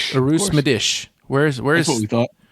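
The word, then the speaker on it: Medić: How do you pronounce it, Roy? Madish. Madish. Madish. Arus Medish.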